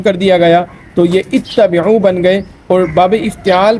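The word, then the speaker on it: اِتَّبِعُوا: حالانکہ جو صحیح اس کا تلفظ ہے، صحیح جو اس کا اعراب ہے وہ اتبعوا ہے، یعنی اس کا جو حمزہ ہے وہ مکسور ہے، اس پر زیر ہے.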